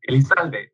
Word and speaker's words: Elizalde: You can say either Elizalde is how it's pronounced, but even in Spanish, even here in Mexico, most people pronounce my last name.